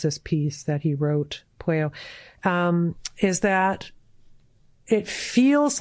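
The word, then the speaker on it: Pueyo: Thomas, I don't know if it's pronounced Pueo or Pueo. I'm not too sure. Yeah, Thomas Pueo is the way I've always said it.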